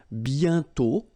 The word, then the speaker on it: bientôt: And then bientôt, okay, remember you put this accent circonflexe but you don't write it, you write it but you don't pronounce it, and then the final T is not pronounced.